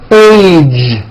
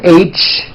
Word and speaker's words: age: Be sure to keep the voicing going throughout the whole word. Age. It's not H, it's age with a voiced ending.